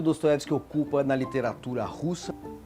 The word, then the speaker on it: Dostoevsky: Irineu Franco Perpétuo eu cresci com dostoyevski mas na verdade é dostoevsky que se fala né É porque em russo o o só é pronunciado assim quando ele é acentuado quando ele é a ele é a então é dastes que aliás estampa a